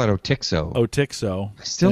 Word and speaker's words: Otixo: We talked about Jolie Cloud and How do you pronounce that? O-T-I-X-O? I call it Otixo.